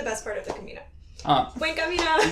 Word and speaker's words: Buen Camino: Buen Camino. Buen Camino.